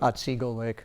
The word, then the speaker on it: Otsego Lake: And if you ever get a chance, and I can't pronounce the name of the lake. What is that? Otsego Lake.